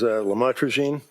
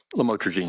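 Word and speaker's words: lamotrigine: about the u the lamel otherwise known as lamatraine. Did I pronounce that right? Lamotraine.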